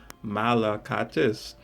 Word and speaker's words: Malakatis: Malakatis. 4 syllables. I love that name. Greek.